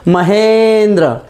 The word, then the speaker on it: महेंद्र: तो आ के साथ अगर ई मिली तो हमारा उच्चारण होगा ए की मात्रा, है ना। तो आप शब्द को प्रोनाउंस करके देखिए, महेंद्र, ए। तो ए का साउंड, वो ए की ध्वनि वहां पे आ जाती है।